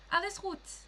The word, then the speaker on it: Alles gut: Alles gut.